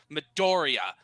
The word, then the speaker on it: Midoriya: the thing okay so first off uh you pronounced it wrong it's midoriya medoria okay and then the second off how